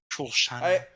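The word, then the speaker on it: Shosanna: You have to say it with a French accent. Shoshana.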